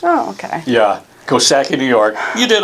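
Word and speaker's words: Coxsackie: I get a hint there's a silent letter in there one of the letters is silent cocky hahaha i was guessing the excellent silent kosaki i wasn't too far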